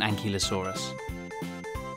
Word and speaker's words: Ankylosaurus: by velociraptor how do you say that again and ki lo saw wrists how big was an ankylosaurus it was as long